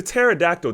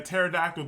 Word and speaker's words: pterodactyl: Basically, what I'm saying is, I do believe the pterodactyl doesn't make any sense to me. Like, there's just certain animals that don't make any sense. I know it's spelled with a P.